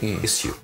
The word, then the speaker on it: issue: But issue, it would be, if you were spelling it phonetically, you'd have an I, issue, with a yod, like a J, issue.